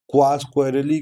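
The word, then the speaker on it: Quacquarelli: देखो इसका pronunciation क्वास क्वेरली कर लो या जो भी है ये ब्रिटिश टर्म है। ब्रिटिश कंपनी है तो इसका प्रोनाउंसिएशन वहां पे जो भी हो हम लोग क्वास क्वेरली याद कर लेते हैं।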